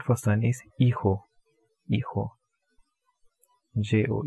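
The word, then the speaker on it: hijo: son is a ho e ho jo e ho so again the pronunciation of this is going to be I Jae ho H is silent e KO and for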